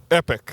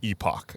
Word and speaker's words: Epoch: But I believe the coffee shop is actually Epoch. Okay, then fuck you. I think the pronunciation of the word is epic, but I think the pronunciation of the word is Epoch.